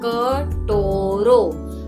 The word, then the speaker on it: कटोरो: अभी प्रोनाउंस कैसे करना है आपको, क तो ट पे ओ की मात्रा टो, रो आ पे ओ की मात्रा, कटोरो, कटोरो दो, या कटोरो रख, या कटोरो खप्पे मतलब चाहिए।